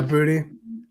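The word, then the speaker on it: Boutte: you say his name out of LSU yeah booty I've been hearing a lot of buzz on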